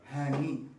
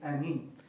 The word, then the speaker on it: Hani: In Egypt, my name is Hani, with pronounced the H. Donc, en Égypte, mon nom est prononcé Hani, donc avec un H. In Belgium, they call me Annie.